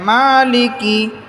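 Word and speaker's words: مَالِكِ: রাহমানির রাহিম মালিকি ইয়াউমিদ্দিন মালিকি মিম খারা জবর এক আলিফ টান হবে মালিকি ইয়াউমিদ্দিন ইয়াওমিদ্দিন মালিক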